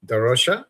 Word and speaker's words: da Rocha: So thank you so much, Vikki da Rocha. Is it? Is that how you Da pronounce it?